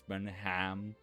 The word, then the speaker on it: Birmingham: You know what always makes me smile is how Americans say it. They say Birmingham instead of Birmingham, so it's always Birmingham. Like I'm going to Birmingham.